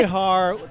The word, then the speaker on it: Bexar: Behar. You know, that's the correct Spanish pronunciation. But in Texas, they pronounce it like the animal, grizzly bear. Bear County. They act like that X isn't even there.